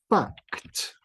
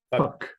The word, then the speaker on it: fact: Hay que pronunciarlo bien porque hay una palabra en inglés es parecido que no es muy bueno. Yeah, fact. Fact. ¿Y cuál es la palabra? Fuck. Fuck. Ah, fact. Fact. Sí. Hay que pronunciar la T.